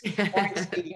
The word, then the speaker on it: Orenstein: I now pronounce that, I think, in a German way. It's Orenstein or something.